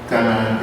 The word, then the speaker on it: Tanaj: Pero como es una Kaf Sofit, una regla en el hebreo, todas las Kaf Sofit se pronuncian como J y no como K, si no diría Tanaj.